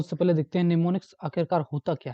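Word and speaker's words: mnemonics: समझते हैं अजय को है तो सफल देखते निमोनिक्स आखिरकार होता क्या है कि से आप नुस्खा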